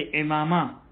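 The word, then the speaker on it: عمامہ: ये खास वजन ही इसी के लिए बयान किया था, जैसे इमामा, इमामा वही अमामा जिसको हम कहते हैं, इमामा गिशावा के वजन पर। इससे पता चलता है कि अमामे की सही प्रोनाउंसिएशन इमामा है।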